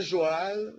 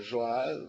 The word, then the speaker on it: Joal: poema se chama joal eu pronuncio o nome nome da cidade é joal o sengor pronunciará joal Mas nós somos tradutores